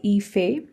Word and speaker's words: Ife: the topic is called Ife it's not if it's not I've it's called Ife that's how you pronounce this now you can